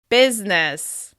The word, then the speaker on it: business: Another word where the I just simply seems to disappear is the word business. Business. Over time, we've completely dropped that I sound in the middle. It's just 2 syllables with stress on the first one.